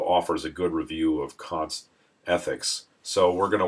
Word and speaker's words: Kant: Yes, that's right, Kant. That's how you pronounce it. Not Kant, not Kant, not Jones, but Kant. It's a German name, and I'm quite happy